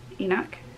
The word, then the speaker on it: Enoch: this is by suzanne um how do you pronounce her last name enoch enoch and this is the um handbook to